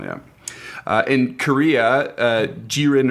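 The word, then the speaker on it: 기린: Uh in Korea, uh Girin or Kirin uh with a G for the first one, they have been extensively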